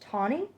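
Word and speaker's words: Thoene: supposed to be pronounced Tawny it's spelled like phone but I think it's supposed to be pronounced Tawny so this is about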